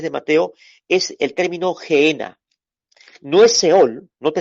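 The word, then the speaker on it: gehenna: el infierno ahí la palabra infierno en el griego es gena se escribe G doble e doble n y ajena gena ojena como pudieran decir esta este vocablo griego Gera en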